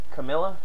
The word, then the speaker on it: Camilla: Camilla kind of rhymes with Cruella.